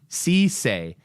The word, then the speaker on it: Cisse: Sissay is how you pronounce it.